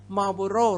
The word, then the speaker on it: Marlboro: นะ ครับ I want Marlboro Red ก็ มี ตัว R ตัว R นำ หน้า สลัด ตัว O O แล้ว นะ ครับ ต้อง หัน ลิ้น Marlboro Red Marlboro Red